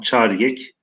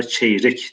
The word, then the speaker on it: çeyrek: Çariyek. Yani şu anki telaffuzla çeyrek diyoruz arkadaşlar.